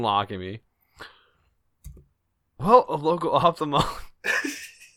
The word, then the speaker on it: ophthalmologist: Ophthalmologist?